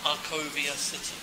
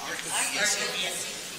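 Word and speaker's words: Arcovia City: And it's pronounced Arcovilla City. Yeah, Arcovilla City.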